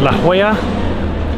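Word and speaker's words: La Jolla: all right first stop for today is La Hoya that's I'm finally pronouncing that properly and it's a richy rich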